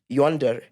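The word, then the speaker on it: YNDR: new streaming Channel called y ndr pronounced Yonder which will be handled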